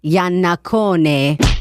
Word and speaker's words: Iannaccone: I guess we're going to find out, Cupcake, because the Carmine Yanakone is about five freaking seconds from calling in right now.